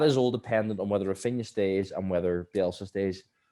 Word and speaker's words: Raphinha: Raphinha, it is Raphinha. Raphinha, pronunciation.